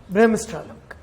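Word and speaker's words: Bremsstrahlung: सबने सुन लिया प्रोनाउंसिएशन? चलिए, ब्रेमस्ट्रालंग, राइट।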